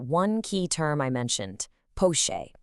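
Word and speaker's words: poché: Let's just zoom in on that one key term I mentioned, poche. It's pronounced pocheer.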